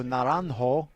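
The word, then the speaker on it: Naranjo: great reaction Ryan laranjo n-a-r-a-n-j-o narantho and I I know how to pronounce that because uh I lived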